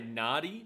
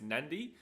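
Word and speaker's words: Nadi: which most people say nardy but it's actually pronounced nandi right so that's another one so if you see a d usually there's an N before it let me just see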